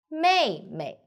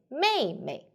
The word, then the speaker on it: 妹妹: what my easy do may may pay attention here the second may we need to read short and lightly so we say may may may yes very good